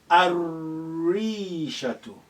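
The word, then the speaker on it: الريشة: Next, Rishatun, and that is sun letter, the Ra. Ar-Rishatu. Shadda is required now because the sun letter comes after so we say Ar-Rishatu.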